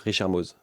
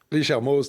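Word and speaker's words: Richermoz: Habituellement les noms savoard prononcent le Z mais Richermos la façon dont mon nom de famille prononcé est une exception. Donc Richermos. Richermose.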